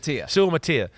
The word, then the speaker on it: Suamataia: Suamataia.